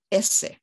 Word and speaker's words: Auset: And what happens is maybe New Kingdom or even earlier, the T pronunciation falls away. And linguists tell me that her name would have been pronounced in Kemetic more like Esse.